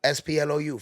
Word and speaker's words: Splou: The name is Sploo. Splou. Follow me on the gram and wherever you can spell it.